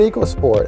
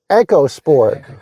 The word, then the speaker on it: EcoSport: So about this car, it's the Ford EcoSport, and all along I've heard people pronounce it just like that. But now that I'm looking into it, it's supposed to be pronounced EcoSport.